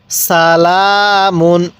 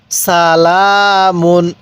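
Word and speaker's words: سَلَامٌ: লাম খারা জবর লাম মিম দুই পেশ মুন সালামুন কিভাবে পড়বো সালামুন হ্যাঁ আরেকবার পড়ুন সালামুন হ্যাঁ পড়ুন সালামুন এরকম ভাবে এবার বলবেন এই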